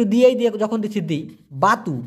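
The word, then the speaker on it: batu: কাঁদা মাটি একটু দিয়েই দিয়ে যখন দিচ্ছি দেই বাতু বি এ টি ইউ উচ্চারণটা হবে বয় আকার তরস্যু এই বাতু মানে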